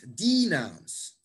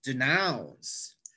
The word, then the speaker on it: denounce: you notice that i if you stress the first syllable it's going to sound really weird to people who speak english defeat i'm going to defeat the team it's not defeat it's defeat it's not denounce it's denounce so it's really important to stress the correct syllable letter b yes the